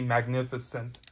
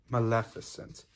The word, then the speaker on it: Maleficent: you're the dragon lady magnificent actually it's pronounced maleficent and yes it is